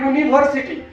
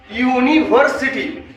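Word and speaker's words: university: क्योंकि इसको पढ़ा जाता है यूनिवर्सिटी, यूनिवर्सिटी, क्योंकि इसका क्या बोले प्रोनाउंसिएशन के अनुसार, उच्चारण के अनुसार ए का आर्टिकल का प्रयोग होता है, उच्चारण के अनुसार।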